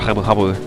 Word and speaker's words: Jabu-Jabu: she tells us that Lord Jabu-Jabu, which is how it would be pronounced if you're Hispanic, is having a little